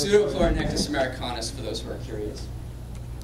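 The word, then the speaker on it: Pseudopleuronectes americanus: You want to pronounce that scientific name? No. So it's Pseudochlorinectis americanus, for those who are curious.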